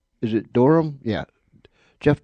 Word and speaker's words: Dunham: Is it Durham? Yeah, Jeff Durham is.